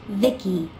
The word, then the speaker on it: V.I.C.I.: transistors by the way i'm the ici pronounced vicky my creator was vivi